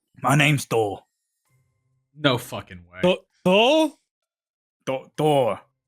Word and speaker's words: Thor: No, Thor. Thor. There's no U. There's no U sound.